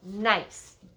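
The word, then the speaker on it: gneiss: the change has been changed form is called nice g n e i s s g n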